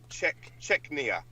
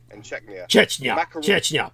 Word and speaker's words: Chechnya: Moscow has sent troops into Georgia and fought 2 wars in Chechnya. Chechnya, but go on.